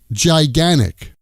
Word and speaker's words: gigantic: Gigantic becomes gigan-ic.